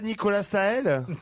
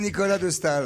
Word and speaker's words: Nicolas de Staël: est un français oui c'est pas nicolas stahel vous allez devoir de s'assurer que ce soit nicolas de staël un tricheur non mais